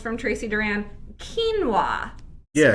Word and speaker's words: quinoa: Quinoa. Yeah, Spelled quinoa. Quinoa. So spelled quinoa is pronounced quinoa.